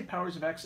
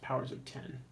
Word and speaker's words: Powers of X: Did I just say Powers of X? I believe it's pronounced Powers of 10. Let's see.